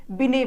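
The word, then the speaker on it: Binet: तो mental as के बारे में जो बात करते हैं वो एल्फ्रेड बिने बात करते हैं। ठीक है, इंग्लिश में टी होता है लेकिन ये साइलेंट होता है। एल्फ्रेड बिने जो है इनके बारे में बात करते हैं, मानसिक आयु के बारे में।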